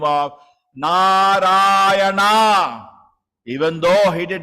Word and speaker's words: Narayana: Although calling the name of his son, never uttered the 4 syllables, Narayana.